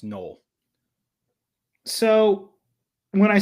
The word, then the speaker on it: Noel: Um, that I'm going with Noel or Nol, excuse me, it's pronounced null.